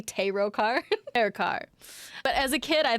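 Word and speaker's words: Terokkar: Thank you, that's a little bit better. Terrakar. Not Terokar. You guys don't want me to say Terokar? Terrakar.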